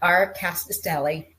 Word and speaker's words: Rkatsiteli: So we're here to talk about Rkatsiteli.